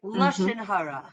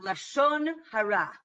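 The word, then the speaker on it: לשון הרע: That is the Hebrew pronunciation. In the Yiddish pronunciation, they would say Avoda Zara, right? Lashon Hara, right? As opposed to Lashon Hara.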